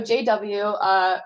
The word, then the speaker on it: JayDoubleu: and I realized that he just spelled out W because it's his last name starts with a W. But so JW, who updated the bicep.go to bump it to a newer version.